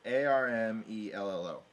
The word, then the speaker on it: Armello: Maybe you're mispronouncing it. It's Armello. No, That sounds like Armello. Armello. Armello, not Armelo.